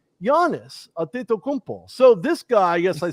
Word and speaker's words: Giannis Antetokounmpo: get inside of the paint on guys like Giannis Antetokounmpo.